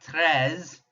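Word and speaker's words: treize: Remember, if you can't roll that French R, just make it a breathy H sound. 13. EI in French, we drop our jaw. So drop your jaw and pronounce an A. 13. And that is 13. Notice there's still that ZE to help us remember it's over 10.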